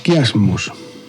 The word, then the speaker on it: chiasmus: de La Libertad El chiasmus Esta técnica también usada por Kennedy toma su nombre de la letra griega j pronunciada k la etimología es importante